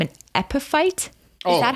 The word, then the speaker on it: epiphyte: I always struggle with this name, an epiphyte. Is that how you say it? Yeah, epiphyte.